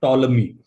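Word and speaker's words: Ptolemy: That's called टॉलमी। हां। ध्यान से बोलते तो टॉलमी है लेकिन समझ गएगे कॉलम लिखिए पी साइलेंट ना ए बी सी अगर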